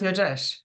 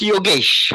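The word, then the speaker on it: Yogesh: see you hi J am I pronouncing your name correctly is that youres uh it's yoges from India okay all right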